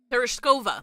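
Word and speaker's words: Tereshkova: The airtight door opens with a hiss, revealing Teros ter Oh, How do they pronounce it again? Terishova.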